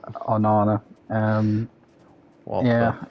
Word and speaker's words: Onana: And your new goalkeeper Onana, is that how you pronounce Yeah. his name? Oh no, no, yeah. It's Onana.